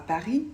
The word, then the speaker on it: Paris: vous avez remarqué mais on ne prononce pas le S à Paris et le T à chat c'est parfaitement normal en